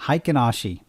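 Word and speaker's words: Heikin-Ashi: how to say there we go how to pronounce this hi kanashii okay there i will have to remember that haikinashi that's how i say these candles look these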